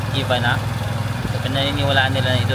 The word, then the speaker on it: Ivana: Ivana parang Ivana allow pero ang pag-pronounce I na for example ng yung asawa mo or jowa mo jowa mo ' ba hinahanap na iba na iba na iba walay walay guys.